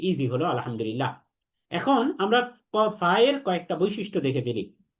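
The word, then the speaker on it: ف: ফা হরফটির উপরেও 1 নুক্তা যুক্ত, সুতরাং 1 নুক্তা যুক্ত ফা হরফটি 1 আলিফ টেনে পড়তে হবে। ফা হরফটিকে যখন আমরা উচ্চারণ করব তখন 1 আলিফ টেনে পড়ব, এবং এই ফা হরফটিও বারিক তথা পাতলা, অর্থাৎ মুখ স্বাভাবিক রেখে পড়তে হয়।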